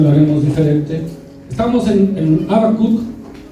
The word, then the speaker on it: Habacuc: El profeta Habacuc viene de una raíz hebrea que es Habak, y se pronuncia Habacuc.